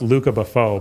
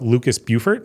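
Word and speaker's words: Lucas Beaufort: artist is if it's he's French so it's pronounced Luca Buffau but it looks like Lucas Bufort so Lucas _ Bufort is my favorite artist.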